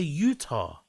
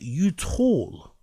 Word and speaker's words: Utah: He's trying to say Utah. Wow. I'm not even American. I know it's pronounced Utah. And he's pronouncing it YOUTAWL.